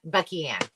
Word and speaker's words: Bucky Ann: Yeah, we had is it Buckland's Creations ask if anyone can sell. Is that how you say it? Yeah, but Bucky Ann.